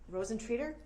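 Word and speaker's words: Rosentreter: It's hard to pronounce her name, but Rosentier. Rosentreater? Did that sound right?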